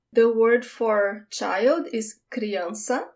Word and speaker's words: criança: The word for child is criança. That C with the squiggly thing we call cedilha, it sounds like an S.